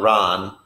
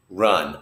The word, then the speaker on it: run: good example of this open mouth schwa sound is what we call it just open your mouth and do nothing with it that's the vowel sound run it's not Ron it's run open your mouth make it do nothing run jump is